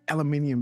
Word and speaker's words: aluminium: I like aluminium better. Uh this is almost this is how we say it aluminium. Um you know, the English say aluminium and the Americans say aluminum, right?